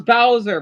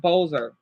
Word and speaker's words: Bowser: I know it's Bowser, but I growing up I always pronounced it Bowzer. Sounds weird saying Bowser.